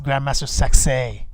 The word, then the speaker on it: Grandmaster Sexay: Well, say it right, Griff. It's Grandmaster Sexay.